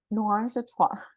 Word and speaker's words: Noirangetrois: Noirangetrois. Noirangetrois.